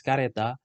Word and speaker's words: kereta: On the other hand, in Indonesian standard language, the term kereta or the local usually pronounced as kareta could mean a train or a wheeled vehicle that pulled by a horse in the past.